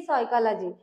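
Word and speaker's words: psychology: वेगळाच असतो जसे की सायकॉलॉजी सायकॉलॉजीची प्रोन्सिएशन एस पासून स्टार्ट होतो परंतु स्पेलिंग कशाने स्टार्ट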